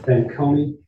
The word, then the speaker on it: Fanconi: And I am pronouncing that correct. Fanconi? Yes.